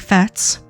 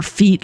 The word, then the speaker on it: Fêtes: because some things like Fêtes, or Fates, or Feet, listen, it's pronounced all of those ways depending on where you live, are definitely worth doing when they come up.